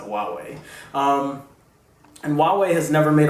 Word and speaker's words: Huawei: So they're also planning on making a 6-inch version, and so that's going to actually be made by Huawei. I think that's how you pronounce it, Huawei.